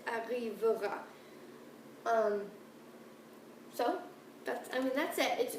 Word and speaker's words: arrivera: It's not arriver à, it's arrivera.